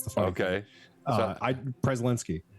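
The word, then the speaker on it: Przelenski: e-l-e -n-s-k-i isnevsky we I actually do pronounce the P but I don't think I'm supposed to that's the fact okay uh I preslinsky preszalinski okay all right prezzolinski yeah dark elf Twilight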